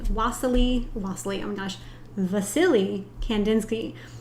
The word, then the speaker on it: Wassily Kandinsky: lostly oh my gosh Vasily Kandinsky spelled with a W but it's Russian so it's pronounced with a v anyways I'm Joanna Hill